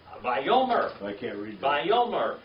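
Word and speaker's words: וַיֹּאמֶר: Yeah, from reading what it says, and said, that's Vayomer. Vayomer.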